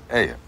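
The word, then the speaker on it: ayuh: How do you spell it? A-Y-U-H. Aya.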